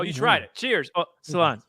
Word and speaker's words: Sláinte: Oh, Solange. How do you say it again? Sláinte.